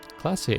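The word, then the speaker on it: Klaasje: Classier is pronounced classier.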